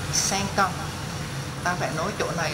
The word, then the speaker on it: cinq ans: Cinq, cinq thì ta lại nối qua bằng âm cờ, cờ, cinq ans.